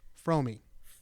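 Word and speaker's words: Fromme: I've learned recently that her name is actually pronounced fromi I've always said Frome I've only ever heard people say from yeah I learned recently from her herself that her name is pronounced fromi that's why you heard it that way on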